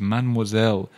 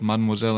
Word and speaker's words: mademoiselle: And number three, the third one you can use is mademoiselle. Don't forget that middle E is silent. It's not mademoiselle, it's mademoiselle.